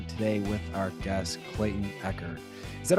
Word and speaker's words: Echard: And we are here today with our guest Clayton Pecker.